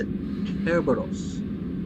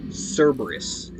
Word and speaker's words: Kerberos: Like, they're so xenophobic, they don't even use the proper Greek pronunciation of the word. It is Kerberos, not Cerberus. It's a hard K, not a soft C.